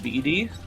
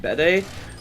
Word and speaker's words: Bede: You used to say it like Beady. You pronounce it Bede. Bacarina, you're British! You should know it's Bede!